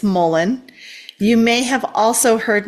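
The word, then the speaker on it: mullein: So it's not Mullion, it's Mullen.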